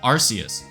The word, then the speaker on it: Arceus: Spanish and French also have hard and soft C sounds, and Arus's name has the soft C in both of those languages.